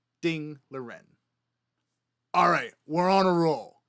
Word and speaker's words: Ding Liren: last name comes from, they pronounce their last name first. So, instead of Liren Ding, you would pronounce his name Ding Liren.